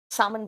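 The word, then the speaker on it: salmon: रोह बोला कटला बोला सामन बोला एल साइलेंट होता है उसमें इसमें याद रखना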